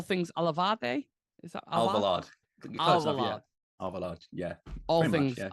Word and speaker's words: Alvalade: You got to tell me how to pronounce this, Sam. All things Alvarade? Is that Alvarade? Alvarade.